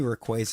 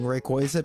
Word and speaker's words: Rayquaza: the correct one but Rayquaza I think just flows better like qu I mean yeah I said qu or Quay is the correct pronunciation for the middle but I just like